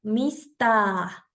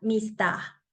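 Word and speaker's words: ミスター: palabras de katakana como mista este es mi carácter de ta y para hacer largo el sonido de la vocal Solamente le puse el guion y así creé la palabra mista que viene del inglés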